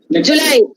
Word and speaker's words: July: uh video long syllable the first syllable is short row july the stressed part comes in the second syllable july it is especially